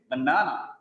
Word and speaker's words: banana: But in English, it is banana. Banana. The second syllable is stressed there.